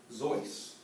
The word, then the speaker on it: Seuss: Seuss's real name is Theodore Zois Geisel, okay, without the E. The name is his mother's middle name. It's Bavarian. The actual pronunciation is a little bit rhymes more with voice than with juice.